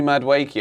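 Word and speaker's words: Madueke: for me Jackson and noni madwaki I think the g is silent thank you for that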